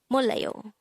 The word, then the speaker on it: 몰라요: This is pronounced as a three-syllable word. The first syllable is mol, second syllable is la, the third syllable is yo.